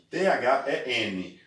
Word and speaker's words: then: Mas não confunda than, T-H-N, com then, T-H-E-N, com E, que significa então. Muito cuidado, presta atenção. Than, T-H-A-N, significa que. E then, pronúncia de E mesmo, then, com E no meio, significa então.